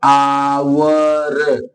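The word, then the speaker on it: hour: आप ए भर देंगे नहीं एच साइलेंट है किसे पढ़ने पर शुरुआत की हो रही है आवर देखो शुरू में क्या आया आया ना अ से अ के बीच में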